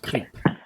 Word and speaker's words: Crepe: he's creep for now it's spelt like crepe but he's pronounced creep there you guys said